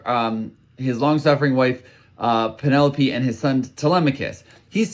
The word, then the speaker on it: Penelope: And it has to do with Penelope, the pronunciation of her name because when I was a child and I would read that name wherever I read it, I always thought of it as Pentalope and it was only I must have been